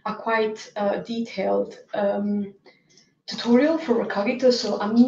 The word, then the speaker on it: Recogito: platform that is called Recogito, or you can choose how you like to pronounce it. I go for Recogito, and I will show you how to use Gazetteers to create semantic annotations.